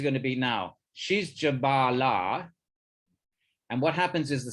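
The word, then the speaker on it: Jabālā: to his mother, Jabala, it's not the same. Notice that's got a line on the first A. So ladies have, a short A is always going to be a male name. Long A is always going to be a lady's name.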